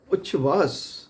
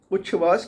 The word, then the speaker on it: उच्छ्वास: और ये मैंने पहले ही बता दिया कि व्यंजनों की जब संधि होती है तो उसका उच्चारण बदल जाता है। तो छ की आवाज़ आती है श की जगह।